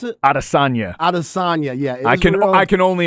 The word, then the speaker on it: Adesanya: How do you pronounce it? Adesanya.